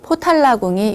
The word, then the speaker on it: 포탈라: 티베트는 포탈라궁이 유명합니다. 포탈라궁은 티베트 라사에 위치하고 있는데요. 예전에 달라이라마 존자님께서 계셨던 곳, 그러니까 궁이자 사원입니다. 포탈라는 관세음보살님의 거주처를 뜻하는 보타라카산의 발음이죠. 포탈라, 티베트어 발음입니다.